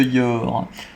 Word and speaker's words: Yor: Allez part totem de Yor.